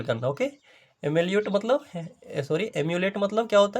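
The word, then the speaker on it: emulate: Okay, देखिए यहाँ पे कॉपी करना समझिए, तो यहाँ पे समझिएगा प्रोनाउंसिएशन, इसको क्या प्रोनाउंस करें दोस्तों, एम्यूलेट, part of speech verb, imitate, copy और मिरर।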